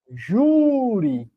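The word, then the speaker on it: júri: deveria ter acento ó Juri a palavra Juri ela é uma palavra paroxítona por a sílaba tônica é a penúltima e as palavras paroxítonas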